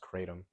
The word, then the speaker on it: kratom: I think it's pronounced kratom. Kratom? I think that's how it's pronounced. Like Kratos.